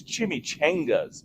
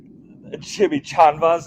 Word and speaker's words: chimichanga: You spelt it wrong, or you pronounced it wrong. It's chimichangas, my guy. Chimichangas. Chimichanvas, is that like chanclas?